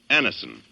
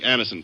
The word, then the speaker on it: Anacin: You can get Anison at any drug counter. It's spelled Anacin. Easy-to-take Anison tablets come in handy